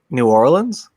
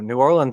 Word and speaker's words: New Orleans: New Orleans. Okay, I was wondering how you pronounce it differently than.